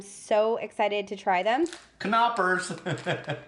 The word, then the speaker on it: Knoppers: Knoppers. Tim says the K is pronounced, so Somebody in the comments told us. That's the only reason I know. Knoppers.